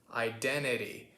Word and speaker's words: identity: that's worth noting so the t sound the second t sound which my british cousin over here pronounces with a proper clear t we would turn that into a bit of a tapped t which sounds kind of like a d although it's not really a d because a d is